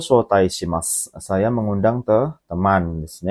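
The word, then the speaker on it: 招待: hai, yombang desu ne, yaitu shotai, panjang shonya ya, shotai desu ne. Apa artinya shotai? Ada yang tahu minasang shotai? Ya, mengundang desu ne. Shotai itu mengundang. Jadi kalau diartikan tomodachi o shotai shimasu, saya mengundang teman desu ne.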